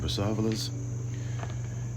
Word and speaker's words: Brassavola: Before I go off, I do have to show you the Bible, what it says on Brassavolas. Now, it also pronounces it, you can see, Brassavola.